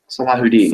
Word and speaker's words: Salahuddin: Saladin is just the westernization of it. Okay. Well, I mean, I I won't say it correctly, but Salahuddin is solidifying his... You have to get the Arab throat noise out, Okay.